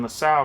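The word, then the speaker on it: Lassalle: in 1863 Ferdinand LaSalle I want to see how you pronounce that guy's name I would say LaSalle but I'm also curious one second it is LaSalle the reason I was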